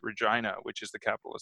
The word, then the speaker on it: Regina: way that they pronounced regina which is the capital of saskatchewan yes yes he said regina uh the way it would be a woman's first name in the united states but more funny than